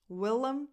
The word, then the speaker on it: Willem: Willem Dafoe. Willem, it's a nickname. Willem, we, lax e, lum, lum. The other vowel is just a schwa. Willem Dafoe.